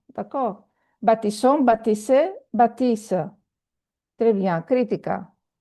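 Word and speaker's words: baptisons: S between two vowels is pronounced Z. But here we have two S, double S, so baptisson. D'accord? Baptisson, baptisser, baptisse.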